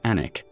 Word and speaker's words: Alnwick: Anic dot, a small market town in Northland, spelled Aln Wic K, but pronounced Anic.